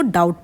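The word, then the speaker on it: doubt: ऑल हिज डाउट्स देखिए डाउट अब कैसे स्पेलिंग देखिए डी ओ यू बी टी एस बट यहां पर जो है बी यहां पर है साइलेंट तो इसको डाउट पढ़ेंगे तो अ ही वुड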